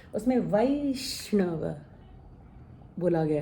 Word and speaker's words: वैष्णव: अब ये है वै, ए और ऐ दोनों तरह से इसका उच्चारण होता है, जैसे वैसा। लेकिन अगर आप उन्हें वो गाना सुना है वैष्णव जन, तो उसमें वैष्णव बोला गया है, हालांकि वो गुजराती में है।